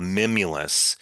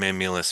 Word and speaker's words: mimulus: The substance for uh that framework for um security would be the best word is called mimulus. It's spelled m i m u l u s.